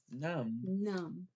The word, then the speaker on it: numb: You got that silent B at the end. Good job. Numb? Numb. Now remember, I want to see those U's. How about numb? Not numb. You don't say the B. Remember, it's silent.